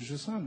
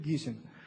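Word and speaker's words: Gisin: Так вот, люди из Женевского университета, там есть такой человек по фамилии, если правильно по-французски произносить, будет Жисан, а если нормально прочитать, будет Гисин.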